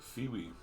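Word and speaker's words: Phiwi: P H I W I P H I W I Feewi Feewi. It goes and it's this big old teethy gr says, "Hello, I'm Feewi."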